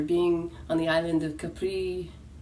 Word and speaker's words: Capri: on the island of Capri. Many call it Capri, they call it Capri. Like if you live in Italy, the pronunciation is Capri.